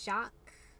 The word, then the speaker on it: Jacques: castle and i think his name is jacques i think is how you're supposed to pronounce that it has much too many letters for that but i'll take their word for it your aim is bad